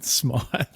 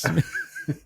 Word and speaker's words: Smythe: Did you just call him Hayden Smythe? Yeah. It's a SMYTH. It's Hayden Smythe, is it not? I always thought I'm positive it's pronounced Smith.